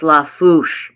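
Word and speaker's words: Lafourche: Half Fast Haku says, basically pronounce La Fouche Parish. Thank you, La Fouche.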